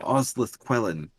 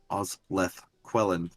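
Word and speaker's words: Osleth Quellen: friend oh yes i'm so sorry i am ozleth quellen oz leth quellan can you uh spell that for my buddy maurer here yeah o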